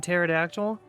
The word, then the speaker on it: pterodactyl: Why is there a P in pterodactyl? Um, that's Well, cuz it's the same reason you can't hear a dinosaur go to the bathroom, cuz the P is silent.